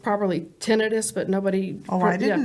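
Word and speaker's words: tinnitus: believe right around there because he started getting tenius which is actually pronounced properly tenus but nobody oh I didn't know that I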